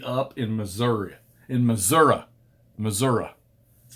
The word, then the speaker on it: Missouri: wrap this puppy up in missouri in missouri missouri that's how you say it show me finished